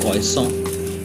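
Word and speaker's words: croissant: बहुत सारे bakery items, ये मेरे सामने दिख रहा है, इसको प्रोनाउंस करते हैं क्रोइसॉन, और इस तरह के सारे बेकरी आइटम्स जो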